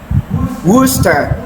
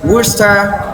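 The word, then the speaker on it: Worcester: We also have worooster. Look at the spelling and the pronunciation as in worooster sauce.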